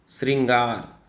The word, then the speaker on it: श्रृंगार: और स्रा दोनों का, तो कैसे आप उच्चारण करो? सा श्री, आप या तो स्रा पढ़ोगे या तो श्री पढ़ोगे।